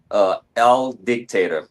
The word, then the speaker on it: Aldiyktaturs: Aldiyktaturs, almost like owl, like the bird, dictator.